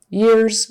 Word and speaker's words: years: is voiced and so Years also takes on the z sound instead of s um and foreign speakers